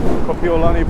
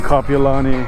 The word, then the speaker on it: Kapiolani: Actually gonna go around and down Kahala Avenue, down Diamond Head to Kapiolani Park. Almost said it wrong again. And then yes, I got corrected on that. I was saying Kapiolani.